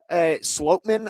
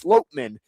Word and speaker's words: Sloatman: And then at center, Sloatman, I believe, is the correct way to pronounce it. Coming up, yeah. I thought it was Schlotman. Me too. That was what I was saying all week. But I saw on social media that it's Sloatman.